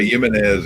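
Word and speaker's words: Jiménez: Yeah, like at Tequila Jimenez, it's spelled with a J, but it sounds like a Y.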